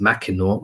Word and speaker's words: Mackinac: They were formerly an important item in the trade of Mackinac, pronounced Mackinaw after the French, the famous trading post between Lakes Huron and Michigan.